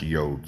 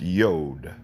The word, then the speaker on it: Yod: But it is not pronounced Yod sometimes. If you leave it by itself, it's Yod. Y-O-D, Yod.